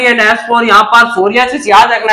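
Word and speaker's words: psoriasis: एस for silvery and एस फॉर यहां पर सोरियासिस याद रखना है, तो एस से silvery white scaly legion and एस से सोरियासिस को याद रखना है, क्योंकि पी इसमें साइलेंट होता है, तो एस से सिल्वरी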